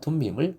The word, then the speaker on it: 둠밈: 둠밈, 원어 발음은 툼밈이라고 하는데 이것은 완전한 온전함을 뜻하는 단어입니다. 종교개혁가 루터는 그래서 이 우림과 둠밈을 각각 빛과 공의라고 번역을 했습니다.